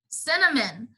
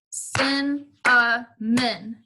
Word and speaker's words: cinnamon: usually they're served warm cinnamon sin men sin uh men three syllables tricky words neighbor you